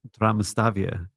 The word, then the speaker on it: Damastavia: And so they they the pronunciation is uh Damastavia and it's almost a T. It's like a silent T at the start.